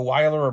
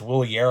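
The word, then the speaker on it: Wilyer: So Weiler Abreu or Will Year. My brother said I said his name wrong in the top 10. It's Will Year, I guess. So Will Year Abreu.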